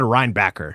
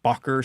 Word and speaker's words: Reinbacher: just because he said rhinebacker yeah going by how uh typical urine European names with that spelling are pronounced bocker seems more likely yeah but yeah I